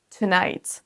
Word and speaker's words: tonight: Ne dites pas today, tomorrow et tonight, mais prononcez le premier son comme un son schwa, donc le petit E à l'envers. C'est un son E très léger.